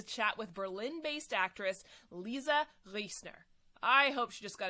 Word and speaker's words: Riesner: lovely voice notes saying don't worry about the proper german pronunciation of my last name if you can't do it just say lisa riesner like they say in the states like no i want